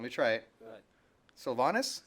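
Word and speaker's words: Sylvanus: Am I pronouncing this correctly? Let me try it. Go ahead. Sylvanas. Sylvanas, good Okay, job.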